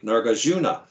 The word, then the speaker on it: Nagarjuna: And I notice I tend to put my emphasis on the penultimate syllable. Like I would say Nagarjuna.